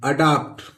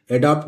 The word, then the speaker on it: adopt: ADOPT अडाप्ट, एडॉप्ट नहीं पढ़ेंगे दोस्तों, इसको अडाप्ट पढ़ेंगे। क्या पढ़ेंगे? अडाप्ट।